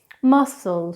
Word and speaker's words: muscle: The most fascinating thing about the silent C is that it tends to be silent in such scintillating sounds as scissors, muscle, science, and yet in some